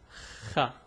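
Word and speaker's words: خاء: The pronunciation is Khaa. It's a bit difficult to pronounce, but I'll get like special videos on different pronunciation and details.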